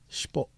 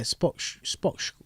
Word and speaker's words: Shpock: Shpock, yeah, Spock, I can't even say it now, Shpock.